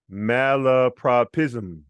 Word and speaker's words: malapropism: Now we're going to loop and say a, u, r, a, I, z, So chunks, zum, pism, propism, lapropism, malapropism.